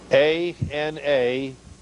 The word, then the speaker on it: anathema: A-N-A-T-H-E-M-A. We pronounce it and use it in the transliterated form.